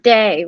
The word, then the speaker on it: De: little context it's pronounced day right yeah yeah it's like a e-d combination and it sounds like day it's like pay or